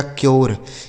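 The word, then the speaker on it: cure: तो अगर यू के बाद आर इ लिखा हो तो यू का उच्चारण यो हो जाता है। जैसे सी से हो गया क यू का उच्चारण क्या होगा? यो आर ई से र इसे पढ़ा जाएगा क्योर।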